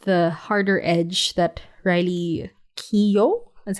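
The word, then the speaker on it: Keough: I I loved the harder Edge that Riley Keo that's how you say her name I love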